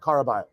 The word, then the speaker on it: Caraballo: in question Alejandro Caballo c-a-r-a-b-a-l-l-o karabio that's all I believe it is pronounced and she starts by